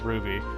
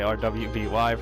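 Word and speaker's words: RWBY: my all-time favorite show is Ruby r WB y in case you don't know you know spell the shits some people don't even know how to pronounce it some people will say our wby for some reason but this show I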